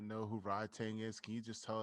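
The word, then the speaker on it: Rodtang: Rod Tang Jit Mungo. Like, R-O-D. yo. Yeah, Rod as in like Rodney, Tang as in Pootie Tang, correct?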